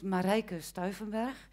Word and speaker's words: Marijke Stuivenberg: My name is Marijke Stuivenberg, in case you didn't know how to pronounce.